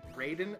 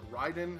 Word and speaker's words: Raiden: was uh it was the raiden esper or ryden however you'd like to pronounce it uh and unlike the